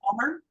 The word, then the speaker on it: Baltimore: Um, Baltimore. Oh, you think in Balmer? Because some people say that, right?